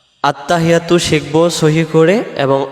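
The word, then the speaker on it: التحيات: আমরাদের উচ্চারণে আত্তাহিয়াতু আত্তাহিয়াতু আত্তাহিয়াতু হা জের হি ইয়ার পরে তাসজিদ আসছে এই তাসজিদটা সহ আদায় করার জন্য বলতে হবে আত্তাহি এমন আওয়াজ হবে আত্তাহিয়াতু আত্তাহিয়াতু আত্তাহিয়াতু ইয়া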